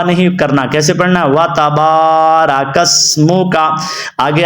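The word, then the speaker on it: وَتَبَارَكَ اسْمُكَ: کو لمبا نہیں کرتے، تو آپ نے با کو لمبا کرنا ہے، وَتَبَارَکَ اسمُکَ، یہاں پہ آپ دیکھ رہے ہیں سین کو ادا کرنا ہے، سواد کو نہیں، وَتَبَارَکَ اسمُکَ۔ سے بڑی یہ غلطی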